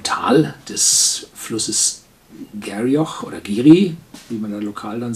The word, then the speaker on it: Garioch: Ah, hier steht es, pronounced Geary in the ancient Doric dialect of Aberdeenshire.